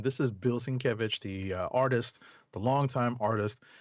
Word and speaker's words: Sienkiewicz: since yes the only reason listen i had mispronounced his name this is bill sienkiewicz the artist the longtime artist and he had